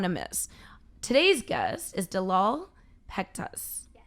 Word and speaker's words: Delal Pektas: miss today's guest is dalal pectus i said it right you said it all